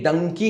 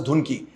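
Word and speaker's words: Dunki: sink in people कि ये डंकी है नॉट टू be pronounce as धुन की इंग्लिश में डी यू एन के आई को धुन की ही एक्चुअली सेड यस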